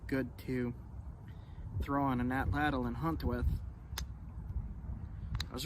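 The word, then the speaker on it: atlatl: to throw on an atlal and hunt with I was recently told that the correct way to pronounce atlal is ATL and that's going to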